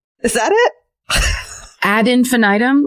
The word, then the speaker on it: ad infinitum: You need the it's a Latin phrase. So I think you need the ad part at the beginning.